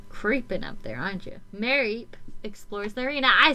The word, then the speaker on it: Mareep: Mareep explores the arena.